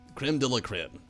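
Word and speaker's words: crème de la crème: was glorious the very crema la creme that's it creme de la creme i've heard that in so long i forgot how to say it as victor likes to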